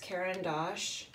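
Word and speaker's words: Caran: Crayola they're pretty good these are it gets pronounced Karen - I'm not a hairdresser sure these are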